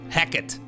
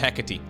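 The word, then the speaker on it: Hecate: we find ourselves on the map hecky heate heckit no apparently it's pronounced hecky so hecky the Greek goddess of boundaries transitions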